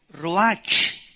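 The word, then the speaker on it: רוח: es la palabra hebrea Roach que se pronuncia prcia ro La ch en el hebreo se pronuncia como j y que es la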